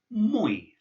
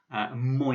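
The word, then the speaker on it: мой: You pronounce this word mой. Mой. Moi is a very common word that you'll come across, which means my.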